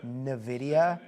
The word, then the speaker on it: Nvidia: No, that's not correct. Nvidia. The N is hard pronounced. Nvidia, not Nvidia.